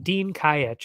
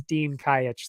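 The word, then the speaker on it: Dejan Kajić: tough one to say I believe it's Dean kayitch though anyway or day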